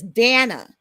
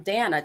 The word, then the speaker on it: Dana: It's Dana. Yes, ma'am. Dana, just like Hannah.